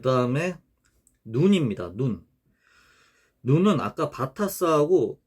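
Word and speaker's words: ن: 근데 눈은 이 점선 밑으로 내려가고 깊고, 그리고 위에 점이 찍힌다. 이런 모양이다. 눈은 음가가 이렇게 N이에요. N이고, 눈 경우에는 우리나라 뭐 니은 발음하고 같죠.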